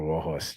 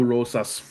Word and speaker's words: Rosas: I'm giving him Raul Rohos Jr. I like that. I know everyone makes fun of me that I say his name wrong. Roses Jr. Au Rosas.